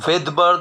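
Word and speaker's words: Svedberg: ভেদবার্গ আমি উচ্চারণ করছি V দিয়ে, কিন্তু এর শুরুতে রয়েছে S লেটারটি, এসটি উচ্চারিত হয় না।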